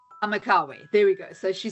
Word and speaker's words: Amakawe: Amakwawe, or how do you pronounce it? Amakawe. Amakawe.